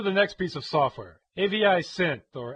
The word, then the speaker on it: AviSynth: software, AVI Synth or AviSynth. I guess you're supposed to pronounce it AviSynth, but that seems weird to me because the name comes from the extension AVI, which is just an acronym.